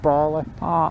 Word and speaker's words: Bala: So for any of you still following, pick up the 494 towards Bala, or some people pronounce it Bala. I've always pronounced it Bala.